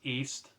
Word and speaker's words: Ys: East memories of celetta it's also spelled Ys because it's a Japanese type of name for a game but here it's pronounced East it's a good game